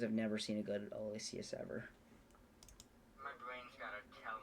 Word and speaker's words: Aloysius: Pronounced in such a way. Aloysius, yeah. Okay, I'm just gonna put him in D tier because I've never seen a good Aloysius ever.